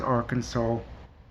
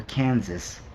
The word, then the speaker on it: Arkansas: upset I know it's I know it's Arkansas that was for a dramatic effect calling it or Kansas I know that's not how it is but so okay so